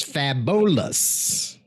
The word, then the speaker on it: Fabolous: that's the cafeteria um fabulous turned 43 i say that that way because that is how it is spelled i think he is not fabulous he is fabolous there was a joke